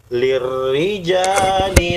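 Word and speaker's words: لِلرِّجَالِ: Lirri, ri ya, tipis, bukan tebal ro-nya. Lirri tidak boleh, tapi lirrijali nasi.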